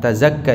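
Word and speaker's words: تزكى: Untuk menyucikan diri I kata tazaka ini kita membacanya tanpa tasdid zainya ya Oh iya tadi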